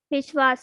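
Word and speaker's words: विश्वास: Vishwas. This is also easy. You can easily pronounce.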